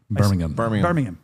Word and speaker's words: Birmingham: Birmingham.